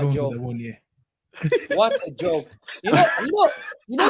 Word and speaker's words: Awoniyi: Awoniyi. Yeah. There we go. What a We're going joke. with Awoniyi.